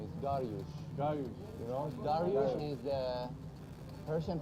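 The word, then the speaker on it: Dariush: You know, Darush is the Persian pronunciation for Darius.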